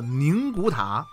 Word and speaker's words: 宁古塔: 个字啊，我读作宁古塔。我发现呀，网上很多的博主啊，把这个发音念作宁，于是呢